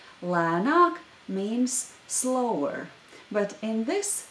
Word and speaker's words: lēnāk: The second vowel is the long vowel a, so notice the difference between these 2 vowels, a and a lēnāk. Lēnāk means slower.